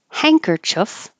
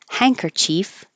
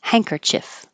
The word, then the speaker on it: handkerchief: hand Cur Chief but we don't say hand at all we say hang like hang handkerchief handkerchief or even hankerchief as long as it's